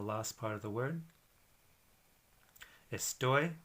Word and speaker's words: estoy: part of the word estoy which is a word that ends in a y but for this but the stress is on the last part of the word it means at the